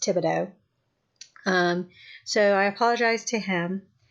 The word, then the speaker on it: Thibodeau: for mispronouncing his name I was putting on our in there and it's thi be DEA you or there's an O in there thi be o de au I believe is how it's about but pronounced Thibodeau so I apologize to